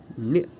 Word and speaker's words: ञ: तो ये जो है न्य, ऐसा इसका उच्चारण होता है, न्य, न्य, न्य।